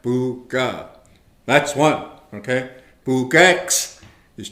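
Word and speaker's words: pookaa: We pronounce it buga. All right? Buga.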